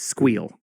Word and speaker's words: SQL: By the way, pronounce SQL versus SQL. It's Squeal. Squeal. You squeal. Squeal. That's Squeal? what I think is the correct way.